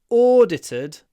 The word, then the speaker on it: audited: words sound similar but you need to change the ow to or not audited ored double O audited American version R audited audited audited but not it's not it's or audited the next my political